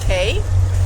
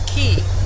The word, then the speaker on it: Cay: everything else that are little droplets are cays like the Florida Keys. Just spelled c a y s.